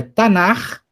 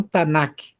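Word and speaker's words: תנ״ך: Então, é Tanar e não Tanak.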